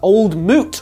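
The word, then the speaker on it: Old Mout: legally obligated to use old Moot rhymes with fruit because it has scrumpy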